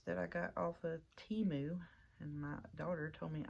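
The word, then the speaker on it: Temu: U die cuts that I got off of Teemu and my daughter told me I was saying it wrong so it is Teemu not whatever I was saying I know it I was saying teu sorry TAMU or TAMU however you want to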